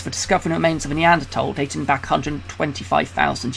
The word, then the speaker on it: Neanderthal: time it they spell the Neanderthals with out the H fight hate that spelling so although they're going to prefer that spelling and that penetration throughout the game I would claim point-blank refused to pronounce it like that so I'm always been say Neanderthal just to let you